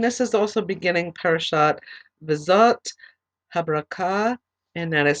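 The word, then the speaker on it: V'Zot HaBrachah: Okay, we're going to begin chapter 33, and this is also beginning Parashat Vizot Habrakah, and that is spelled V apostrophe ZOTHABRACHAH, the blessing of Moses.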